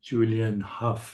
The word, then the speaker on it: Julianne Hough: And it's my great pleasure today to speak to Julianne Hough. Is that how your name is pronounced?